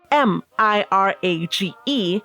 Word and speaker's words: mirage: M I R A G E is pronounced mirage, said Valency shortly, picking up her tea and her beans.